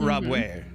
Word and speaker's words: Rabouet: Rabouet. The T is silent, it's French.